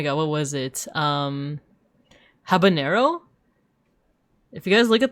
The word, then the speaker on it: habanero: But it's like there there's no ena in there. It's just habanero. I think it's because they probably confuse it with like jalapeno.